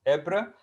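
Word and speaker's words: Ypres: nowadays in belgium in belgium belgium city is pronounced ebre and of ghent these are two cities uh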